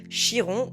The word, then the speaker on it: Chiron: En astrologie, il existe un point hyper intéressant, un astéroïde qu'on appelle Chiron ou Chiron, peu importe comment vous le prononcez, le centaure guérisseur.